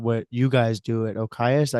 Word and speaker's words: OKA: bit more about what you guys do at OKA. Is that how you pronounce it?